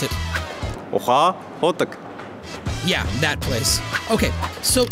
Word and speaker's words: Ukhaa Khudag: More specific, near the Ukhaa Khudag coal mine. Sorry, I just slaughtered that pronunciation. Maybe best to have a native pronounce it. Ukhaa Khudag.